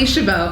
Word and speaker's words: Chabot: I'm getting nervous how do we pronounce your last name Shabo I've known for quite a while please don't get that wrong her last name has a silent T and those intimidate me